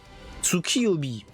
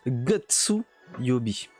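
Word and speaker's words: 月曜日: on on a vu ça se prononcit Tsuki Tsuki obi et ben non h ça se prononce GSU yobi j'ai j'ai bug contre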